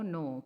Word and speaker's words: know: नो, KNOW का भी sound pronunciation is नो, NO नो का भी pronunciation is नो, but both the spellings are different.